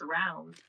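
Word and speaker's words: Raum: It's round. Remember to gurgle at the beginning.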